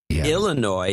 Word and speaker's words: Illinois: it's kind of sexy Illinois is the way it's supposed to be pronounced now I've broken my